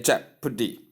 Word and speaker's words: jeopardy: Simply say jeopardy. The stress is given or the force is given at the first syllable.